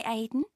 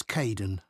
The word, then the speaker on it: Cayden: Hi Aiden. Uh it's Cayden.